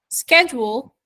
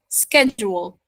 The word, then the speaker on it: schedule: are there are uh two pronunciation for different pronunciation for the same word okay so we have uh schedule sorry schedule schedule as an American as in British accent and SK SK schedule schedule schedule okay schedule and schedule it's